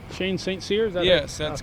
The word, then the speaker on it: St. Cyr: our tour guide and uh make sure I'm pronouncing it right Saint Seer Shane Saint seers yes that's correct and what's your official Title